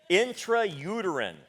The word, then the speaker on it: intrauterine: that doc help me out how do you pronounce thatter intrauterine there we go you got it insemination so